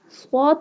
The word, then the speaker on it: ص: Swad pronounced boldly, and here we also do not pronounce ra boldly because ra has kasra sign.